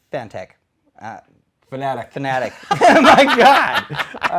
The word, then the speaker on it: Fanatec: years ago and if you're wondering what the pronunciation is it's supposed to be fanatic but you know what I think the majority of people say fitech and I've and you you've corrected me a